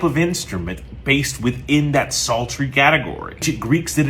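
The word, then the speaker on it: psaltery: it belongs in a very specific group called sultry it's spelled p-s-a-l-t-e-r-y now sultry is a group of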